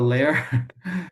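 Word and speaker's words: LAIL: I actually work on this a little bit develop a responsible uh this actually it's it's called a layer. It's a layer AI responsibility framework. So it's spelled L A I L.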